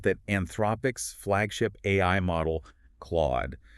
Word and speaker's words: Claude: He points out that Anthropic's flagship AI model, Claude, sounds phonetically identical to Claude.